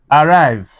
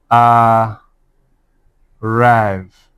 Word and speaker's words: arrive: Arrive. A rrive. Because it is the second syllable, it will be what? Arrive.